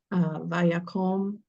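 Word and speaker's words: וַיָּקָם: Vayakom melech hadarash al Mitzrayim asher lo yada et Yosef. Perfect reading. Just put a little bit more emphasis on the fact that the stress is on vayakom. Vayakom.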